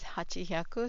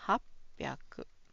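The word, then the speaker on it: はっぴゃく: But it is hard to pronounce it as hachihyaku. So the Japanese pronounce it as hapaku. Okay. Hapaku. Okay.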